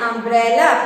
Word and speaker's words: umbrella: And here U sounds a, and a is a vowel sound of U.